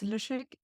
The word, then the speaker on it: Lyschik: my name is Jessica my last name is lusik often people don't know how to pronounce it so here you have an example um yeah I'm a WordPress